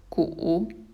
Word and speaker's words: 古: old or ancient and it's pronounced as cool third stone for example when we